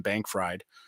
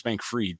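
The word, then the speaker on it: Bankman-Fried: the guys named Sam Bank fried I know it's Bank freed but it's spelled Bank fried and and again I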